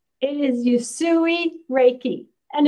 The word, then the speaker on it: Usui: no I said USU Hawaii it is yusui Reiki and it's life-changing life-changing it's so wonderful